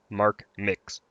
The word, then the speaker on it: MarkMcKz: I typically pronounce it MarkMcKz, but just Mark is fine.